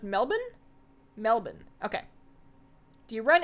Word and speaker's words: Melbourne: but it was also so really spicy it's pronounced Melbourne Melbourne okay do you run any EQ for